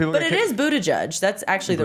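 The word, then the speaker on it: Buttigieg: you'll get kicked up Twitter for saying this Buddha judge that's actually the right it's boot edge edge Buddha judge yeah yeah it's pronounced Pete kicked off Twitter for saying for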